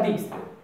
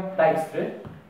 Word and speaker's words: Dijkstry: Ja czytam Dijkstry. I brzmi najlepiej według mnie. Niektórzy czytają Dijkstry.